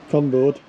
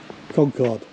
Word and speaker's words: Concorde: What rhymes with it? Right. If you're bored, Yeah. say you've been ripped off and Yeah. it was a, Con. yeah, Yeah. and it rhymes with bored. Yeah. Conboard.